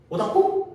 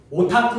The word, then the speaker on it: 오타쿠: 오다쿠 뭐 이런 거지. 오다구가 되는 거야. 오더쿠. 어떻게 발음 어떻게 되는 거야? 오다쿠야. 오더쿠야. 오타쿠. 오타쿠. 오타쿠.